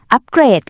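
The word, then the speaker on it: upgrade: เสียง แค่ พยางค์ เดียว คำ ตอบ คือ ข้อ ข อัปเกรด ค่ะ จำ หลัก การ ง่าย ๆ นะ คะ ถ้า เป็น การ กระทำ จะ อัปเกรด ให้ เน้น เสียง ที่ พยางค์ หลัง แต่ ถ้า เป็น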